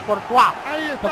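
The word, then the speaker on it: Courtois: es pero se llama se pronuncia cortu que yo lo vi jugar una vez se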